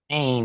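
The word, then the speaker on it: ع: You can feel it when you pronounce the letter Ain. It's from the back of the throat.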